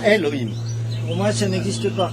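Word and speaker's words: אלהים: et le Aleph il y a un ségol dessous, donc ça se prononce bien Elohim.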